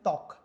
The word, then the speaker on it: ত্বক: শব্দের প্রথমে এখানে দেখি বফলা আছে, তাহলে আমরা এটাকে উচ্চারণ কী করি, ত্বক।